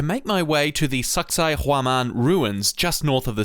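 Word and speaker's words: Sacsayhuamán: And yes, you heard me. That is how it is pronounced. So most tourists, myself included, inevitably come to the same joke and end up calling it sexy woman.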